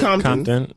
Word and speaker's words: Compton: Like it's not really like a T. It's more like a D. Like when we say things. Compton. Yeah. Like, yeah. Compton.